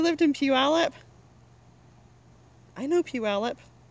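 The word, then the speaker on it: Puyallup: I know Puallup. You can tell because I know how to say it. Mom stber. Some people say puallup or for puget sound they say uh puget. There's lots of wrong pronunciations.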